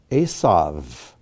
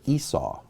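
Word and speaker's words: עשו: may be spelled out laban rahel or rachel asav or esau dinah or dinah again we have two words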